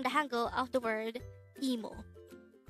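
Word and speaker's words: 이모: aunt the term is emo if it is your paternal aunt it is gomo emo is pronounced as a two-syllable word the first syllable is e and the second syllable is mo while como is also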